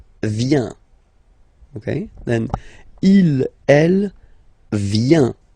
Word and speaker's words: vient: Okay, then il, elle, vient, final T not pronounced.